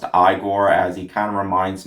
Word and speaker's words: Igor: I also really like the character of Igor, who is pronounced Igor, as he kind of reminds me of Fester